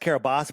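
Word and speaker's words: Kiribati: Now it's it's pronounced Kabos, but if you look it's spelled Carabati.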